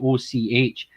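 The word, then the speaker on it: Avoch: the black isle which is spelled a v o c h and it's pronounced och really yeah i mean you even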